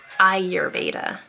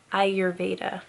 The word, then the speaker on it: Ayurveda: its spell are give a tip and it's pronounced Ayurveda Ayurveda Ayurveda Ayurveda let's talk about Arya Veda